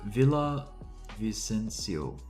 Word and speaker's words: Villavicencio: Whoa, Villa Vicencio.